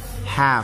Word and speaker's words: half: 100 inside Grot top half half half silent L po iyan half half learned learned